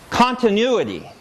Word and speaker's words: continuity: One is the vowel in this first syllable is different. Continue versus continuity. In this second word, the first syllable has stress.